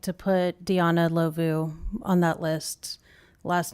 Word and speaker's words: Ndlovu: I believe it's pronounced Lovu.